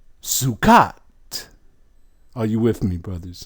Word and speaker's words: sukkah: If we use the Bantu language, it'll be shukut or chukut. And then we have the Jews, they say Sukkah.